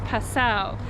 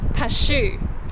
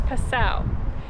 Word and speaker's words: Passau: tourist information center and they confirmed that the pronunciation is Passau so apologies to everyone who has to put up with child and and I previously saying cashew so it's Purcell Charlie is still on